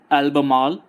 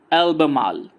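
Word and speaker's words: Albemarle: अब इस आइलैंड को दो तरह से प्रोनाउंसिएशन हो सकती है, जैसे कि अल्बमाल या फिर एल्बमाल. सो दोनों प्रोनाउंसिएशन है, जैसा आपको सही लगे आप ऐसे कर सकते हैं.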